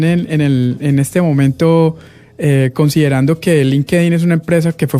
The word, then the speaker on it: LinkedIn: Ok, en inglés la gente lo pronuncia LinkedIn, pero en español se sugiere que lo lean tal como se leería en español, que sería LinkedIn. LinkedIn.